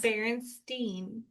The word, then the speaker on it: Berenstain: It should be Stein the way it's spelled. And my mom was Yes. like, no, it's Yes. Berenstain.